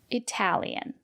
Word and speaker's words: Italian: If the letter T is between vowels or a vowel, R, T, and a vowel, and the syllable is stressed, we pronounce the letter T as T. For example, Italian.